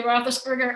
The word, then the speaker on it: Roethlisberger: Becky Roethlisberger, is that how you pronounce it? It is Becky Roethlisberger, Harbor Springs.